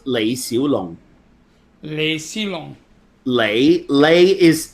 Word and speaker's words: Lee: alone may seem long Leigh Leigh is Leigh is the Cantonese pronunciation for Lee because actually Lee is not pronounced Lee in Cantonese Lee is only pronounced Lee in Mandarin huh so